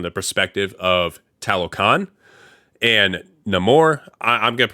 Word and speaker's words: Namor: said it both ways in a movie he pronounces it no more obviously but people also pronounce the name or and I'm just